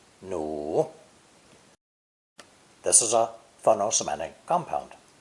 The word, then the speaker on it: 努: Pronounced third tone, 奴, 奴.